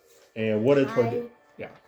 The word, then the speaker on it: Toydaria: And what did Toydaria? Yeah. Toydaria. Toydaria. Sounds like toy and daria.